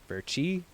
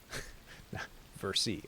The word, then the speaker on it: Versi: Verchi, is it X Verchi or X Versi? I got it right the first time. Versi.